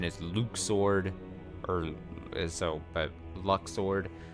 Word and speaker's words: Luxord: to I like Lux sword or I say Lux sword still I know the official pronunciation is Luke sword or so but Lux sword uh was his